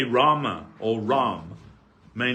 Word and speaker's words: Rama: thing is spoiled but Rama is the grammatically correct pronunciation everything depends on the